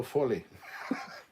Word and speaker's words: Foley: remember those colin says despite how it's spelt oh foley is pronounced oh fully well there you go